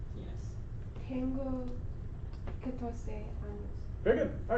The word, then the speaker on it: años: ¿Cuántos años tienes? Tengo 14 años.